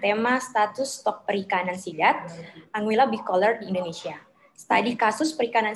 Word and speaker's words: Anguilla bicolor: Anguilla, bacanya Anguilla bicolor.